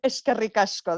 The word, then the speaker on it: eskerrik asko: Well, eskerrik asko, that's easier for me than hvala. Okay, thank you. Eskerrik asko.